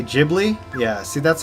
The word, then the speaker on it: Ghibli: said like sake um like the soft g-h sound to make a J basically all right this honeydew